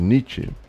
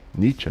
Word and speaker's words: Nietzsche: filósofo alemão chamado Friedrich Nietzsche. Nietzsche é que fala. E tem um pessoal meio brasileiro que não sabe pronunciar, eles falam Nietzsche. Como é que é? Nietzsche, tá? Mas é Nietzsche, tá?